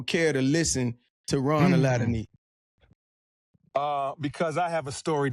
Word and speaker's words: Aladeniyi: My last name is Aladeniyi. You spell it Aladeniyi.